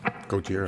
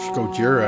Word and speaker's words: Gojira: Gojira.